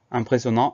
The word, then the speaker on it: impressionnant: Le I-M pour le son 1, les deux S, les deux N et le son AN à la fin qui s'écrit A-N-T, donc avec la lettre muette. Impressionnant, I-M-P-R-E-2-S-I-O-2-N-A-N-T.